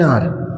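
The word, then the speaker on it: hour: आपने कहा 1 घंटे से, एन आर, 1 आवर नहीं बोलते, एन आर बोलते हैं। एच साइलेंट होता है, एन आर्टिकल लगता है, एन आर, ठीक है।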